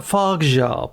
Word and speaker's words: Fargeat: So, Smith, before we start, Coralie Fargeat. Fargeat. I even wrote it down. Yeah, it's like far. You kind of ever so slightly emphasise the G. So it's like Fargeat, but it's not.